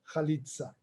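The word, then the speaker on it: חליצה: Minha pronúncia a hebraica é palavra é chalitza, não chalitza. Halitza.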